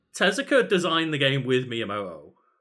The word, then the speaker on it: Tezuka: Itself, Miyamoto and Takashi Tezuka, Tezuka, I believe it's pronounced, who I feel super bad for.